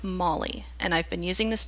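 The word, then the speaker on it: Mhaili: say it out loud it is pronounced like Molly and I've been using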